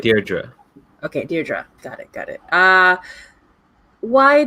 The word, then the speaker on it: Deirdre: So, sorry, how do I pronounce it again? Deirdre? Is that yeah, right? Deirdre.